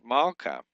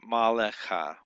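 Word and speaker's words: מַלְכָּה: It's mala not mallea. It's mala meaning queen.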